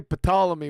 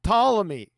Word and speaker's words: Ptolemy: And Brian, you say Ptolemy one more time, I'm going to take a contract out on you. It's Ptolemy. The P silent for fuck's sake!